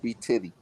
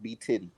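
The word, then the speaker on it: b_tidy: man underscore b-t-i-d-y it's spell b-tidy but it's pronounced b titty yes sir yes sir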